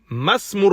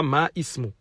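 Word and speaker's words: ما اسم: La cinquième, il dit Masmur rajuli. Masmur rajuli. On ne le prononce pas. On passe direct au sin. On dit masmu et pas ma ismu.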